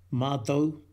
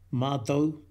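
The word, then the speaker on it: mātou: 마토, 마토, 마토.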